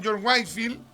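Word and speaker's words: Whitefield: ingleses que se llamó George Wifield, ya se escribe George Whefiel, ¿ya? Pero se pronuncia George Wifield.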